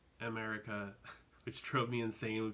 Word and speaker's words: Emerica: It's not Emerica, it's just America, which drove me insane when people would be like, I love Americas.